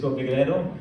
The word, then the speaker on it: Figeredo: Your guess is as good as mine on my pronunciation of my name. So to get it right for the first time, my name is Figeredo.